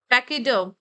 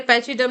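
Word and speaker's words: pachyderm: तो आपको इनको प्रोनाउंस करना है, dermatology, dermatological, हाइपोडर्मिक, epidermis, टैक्सीडर्मिस, taxidermy, पैकीडर्म। इसे पैचीडर्म नहीं पढ़ेंगे, पैकीडर्म पढ़ेंगे।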